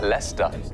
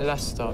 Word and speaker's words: Leicester: it's actually pronounced Worcestershire it's like Leicester the Leicester no I can spot Leicester because of Leicester Square yeah yeah is another word that's spelled completely different to how it sounds and there's just no reason for it I don't know why